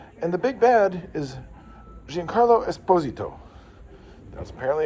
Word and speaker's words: Giancarlo Esposito: At the beginning of the film, there's this action piece, and the big bad is Giancarlo Esposito. That's apparently how he pronounces his name, and he's Sidewinder.